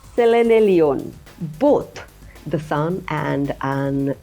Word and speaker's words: Selenelion: Friend, the horizontal lunar eclipse or Selenelion, how do you pronounce? Selenelion. Selenelion.